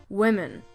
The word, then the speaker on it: women: The difference in spelling is in the man or men part at the end, but the difference in pronunciation is in the beginning. Woman, women.